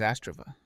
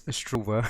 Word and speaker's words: Astrova: Hello, my name is Astrova. Thanks for watching. Okay. And then, by the way, it's Astrova, so he's not pronouncing the name correctly.